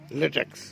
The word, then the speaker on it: ল্যাটেক্স: হ্যাঁ তারপরে প্রসেসিং করে উচ্চারণ বলো। LATEX ল্যাটেক্স।